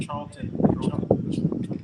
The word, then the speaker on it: Charlton: Charlton.